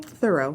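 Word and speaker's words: Theroux: um ALS also Justin thoro tooro how do you say his name thorough th okay who's who as we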